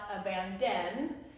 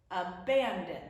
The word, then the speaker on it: abandon: It's not abandon. It's not abandon. It's abandon.